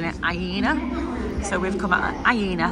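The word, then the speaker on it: Iéna: it's called aena that's what how they were pronouncing it aena so we've come at aena stop and we're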